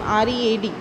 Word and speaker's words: read: of second form is read. Okay, so what is the answer? Spelling is same, R-E-A-D, but the pronunciation will change and it is read.